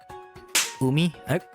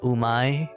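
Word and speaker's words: うみ: It's not umai or umi or umai or yumi. It's umi. Umi.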